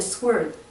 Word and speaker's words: sword: I came not to send peace, but a sword. A sword? Sword. I think we don't pronounce the W.